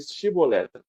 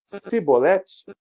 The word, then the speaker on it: Chibolete: vocês falam para ele para ele dizer chibolete se ele disser sibolete sem conseguir pronunciar corretamente a palavra prendam e matavam no lugar